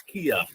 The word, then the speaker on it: Kea: Is it Key or Kia? It's Kea. Kea.